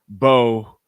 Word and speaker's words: Boye: or Cooper Beebe, and it's pronounced Bo like Jackson. Or what?